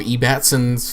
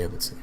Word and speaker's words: Ebbetson: There's Rob E. Batson's Facebook. As he said, people who are stupid say it E. Batson, but I say I think it's spelled Ebbetson, so whatever. I actually say Ebbetson.